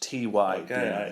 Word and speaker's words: Ty: you correct me Jordan in this home it's pronounced Ty I I will I